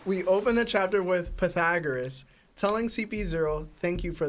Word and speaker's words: Pythagoras: All right, so we open the chapter with Pythagoras.